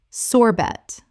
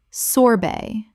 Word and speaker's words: sorbet: Common mispronunciation, sorbet. Correct pronunciation, sorbet. The t at the end is silent in both British and American English.